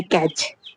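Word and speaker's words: catch: Eyelet, छोटा टापू, जैसे कैच, यहाँ पे अब TCH वाले में भी क्या है, टी साइलेंट हो जाएगा, सिर्फ CH को प्रोनाउंस किया जाएगा।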